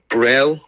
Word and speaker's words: Brel: Uh we've got Brel off Buyers Road.